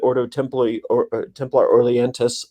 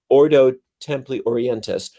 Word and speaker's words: Ordo Templi Orientis: co-opted the um the oto the order temp ordo temple or templar orleans oh i said it wrong the oto ordo templi orientis um that was in existence before he kind